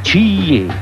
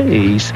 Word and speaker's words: Ace: Ah, CIE. Si legge Ace e vuol dire...